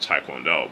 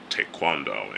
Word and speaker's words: taekwondo: in, you know, taekwondo or how we pronounce it, taekwondo, but it's pronounced taekwondo in Korean.